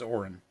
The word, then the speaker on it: Orin: but his name is Orin it sounds Orie Orin a or oh crap I didn't even get the right vow o r i n Orin I tell Hector that